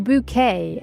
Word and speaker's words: Bucket: Although Patricia Routlled was a serious and intelligent actress to the British public she will forever be Mrs. Hyinth bucket or bouquet as she pronounced it.